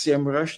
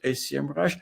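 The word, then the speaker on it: Semrush: move to S Rush it's actually pronounced Sam Rush not ACM rush and there's a history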